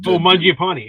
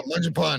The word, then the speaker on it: Mangiapane: whatever that other guy is, I can never pronounce his name, starts with an M. Mackenzie Weegar? Not Mackenzie Weegar, the forward. Mangiapane, Andrew Mangiapane. Yeah, Mangiapane.